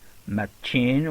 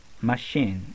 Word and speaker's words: machine: chef we say shut we don't say also matching we say machine and we don't say